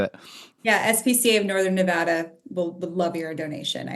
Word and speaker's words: Nevada: Pronounced Nevada.